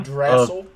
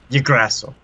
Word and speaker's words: Yggdrasil: How do you even pronounce that? YGG Acorn Yggdrasil. Yggdrasil.